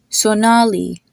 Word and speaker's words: Sonali: O is pronounced the exact same way you would say the letter O, like in the word floral or coral. Like you have the name Omkar, or the name Sonali, or the name Komal.